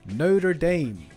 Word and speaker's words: Notre Dame: this the Hunchback of Notre Dame or As Americans say Notre Dame that's good that I